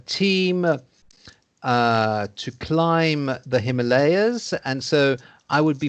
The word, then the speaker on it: Himalayas: you write it so you need to be careful how you pronounce that layers there we are himalayas yeah himalayas so uh